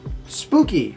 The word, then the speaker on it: spooky: Next word, spooky. Spooky. Spooky. The double O gets a little tricky here, so you have spook, and key.